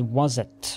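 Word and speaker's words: Waset: when I Google it, the English pronunciation is Wazet, or Wazet. But I think I'll just stick with Wast, since that's what I heard in Pharaoh.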